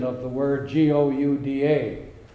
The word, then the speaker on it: Gouda: Something similar to that is the difference in pronunciation of the word Gouda. The Dutchman pronounces it Gouda from deep in his throat.